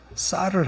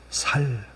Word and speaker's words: 쌀: 수 있도록 여러분 한번 발음을 쌍시옷 발음 쌀을 한번 해 보세요. 쌀 쌀이 됩니까? 경상도 사람들에게 쌀 해보라고 하세요. 쌀 그러면 어떻게 대답을 할까요? 살 살아 간다고 쌍시옷바람을 못 해요.